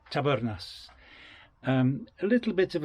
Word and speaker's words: Tabernas: Did you notice I'm rolling me R? That's the way you're supposed to pronounce it. Tabernas.